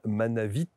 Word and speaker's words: Manavit: Daniel, que vous retrouverez évidemment dans son index, Daniel Manavit. N'oubliez pas de prononcer le T, à la fin, c'est important.